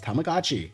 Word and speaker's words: Tamagotchi: Tamagotchi. It's Tamagotchi.